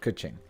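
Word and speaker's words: Keqing: that's how we say her name all right kuching so i put her in my party and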